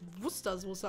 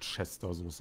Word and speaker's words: Worcestersoße: Ich wusste wirklich voll lang nicht, dass das Wustersoße ausgesprochen wird. Ach, das heißt Wustersoße? Das heißt Wusche. Ich nenne das Wort Chestersoße, aber ich frage mich auch, wer das freiwillig ist.